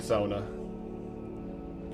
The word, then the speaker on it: sauna: Yeah, I I do a little bit more of the traditional Finnish pronunciation on it. I think I do enjoy a good sona.